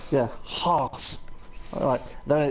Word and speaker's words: Haas: Haas. Yeah, Haas.